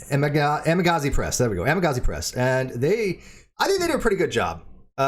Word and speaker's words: Amagansett Press: I have a hard time pronouncing things. Jason, so Jason and his son, right? And Amagansett Press. There we go, Amagansett Press, and I think they do a pretty good job.